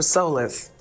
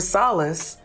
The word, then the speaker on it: solace: the first word so let me say it again he said running from your problems hunting for Solace you're grown accustomed to